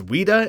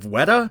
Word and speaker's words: Weta: many by myself repeatedly pronouncing things as Wida instead of WETA it's been about a